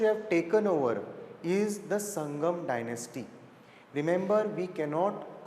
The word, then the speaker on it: Sangama: It is written as Sangama, but it is to be pronounced as Sangam, from 1336 to 1485.